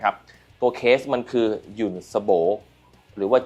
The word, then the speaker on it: Jonsbo: หรือ ว่า John สโบ ทำไม ผม ถึง เรียก ยุ่น สโบ เพราะ ว่า ผม ถาม จาก ตัว แทน นำ เข้า มาเรียบ ร้อย แล้ว ว่า จริง ๆ แล้ว ไอ้ แบรนด์ นี้ มัน อ่าน ว่า อะไร นะ ครับ เขา บอก ว่า ถ้า อ่าน แบบ ภาษา อังกฤษ ก็ คือ John แต่ ถ้า เกิด อ่าบ